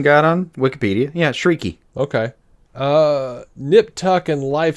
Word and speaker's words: Chriqui: now this is out of left field for me, but the nip Oh tuck no, and there's a pronunciation guide on Wikipedia. Yeah, Chriqui.